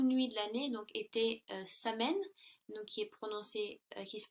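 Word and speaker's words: Samhain: Et, si vous voulez, dans le temps des Celtes, la plus longue nuit de l'année donc était Samen, donc qui se prononce Soyen.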